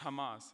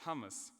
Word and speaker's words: Hamas: A key highlight was when the delegate of Brazil had pronounced Hamas as hummus, and the delegate of UAE had pounced on the opportunity to make fun of the delegate.